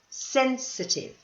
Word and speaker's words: sensitive: is to be sensitive now don't forget the pronunciation this one the pronunciation is at the beginning listen sensitive here is the next